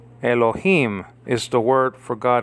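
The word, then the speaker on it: אלוהים: You see, Elo, you have two syllables there, Elo. And then the last syllable is Him. Elohim is the word for God in Hebrew.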